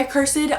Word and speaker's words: Accursed: cursed some people say a cursed some people say a cursed it has multiple pronunciations I can never say